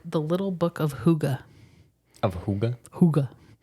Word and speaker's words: hygge: g g e I think it should be pronounced higgy but it's pronounced Huga cuz it's Dana and they they gotcha spell